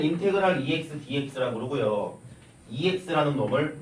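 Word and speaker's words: integral: 읽을 땐 인테그랄이라고 읽어. 뭐 인티그랄이라고 읽는 사람도 있고 인이그랄 이런 사람도 있어. 되게 다양하지만 쌤은 또 애국자이기 때문에 인테그랄 이렇게 읽을 거예요.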